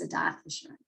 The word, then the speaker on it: Adath Jeshurun: is Adath Jeshurun, and there are lots of ways. Frankly, there are a lot of different ways to pronounce that. The way you pronounced it was just fine, but the way that our congregation pronounces it is Adath Jeshurun.